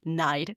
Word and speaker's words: knight: where you have words like night or dough with silent letters. Yeah, like KNIGHT, night, and though, which is just so sneaky.